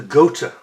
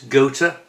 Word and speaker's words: Gotha: the goat the goata we've got to get the pronunciation right because a lot of people get this wrong how do I know the pronunciation well I used to work for a company that had a factory in the town would go to which is where this is named after it's gota as in Goat with an